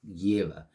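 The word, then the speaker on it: Jera: So, we got Jira again. Okay. So, Jira is as it sounds like the the Vikings used to pronounce their their their Y's as J's. So, it's year if you want.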